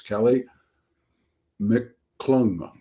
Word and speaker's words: Kely Mcclung: Today, the topic is thriller writers, and our guest today is Kely Mcclung.